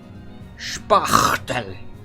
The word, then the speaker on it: Spachtel: The sp is pronounced sh, and the heavy on the ch. Spachtel.